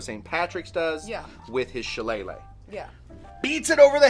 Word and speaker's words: Shillelagh: Patrick's does with his Shillelagh.